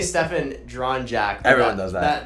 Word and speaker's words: Stefan: don't want to it up Stefan and then the last name is drawn shout out yet I was gonna say Stefan drawn Jack everyone does that that Serbian the